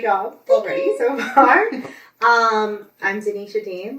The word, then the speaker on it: Dinetia: So she's like Denisha. I don't know. Yes. Well, it's spelled Dinetia, like dying Tia. Okay. Dean. I always go to say her name like D-E-N. D-I-N. Yes, D-I-N.